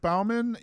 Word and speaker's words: Baumann: How do you pronounce your last name, Beth? You actually did it. You actually said it right. Yes. Baumann.